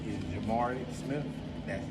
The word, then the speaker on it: Jhamori: How do you spell it? Well, my name is Jhamori Smith. That's Jhamori.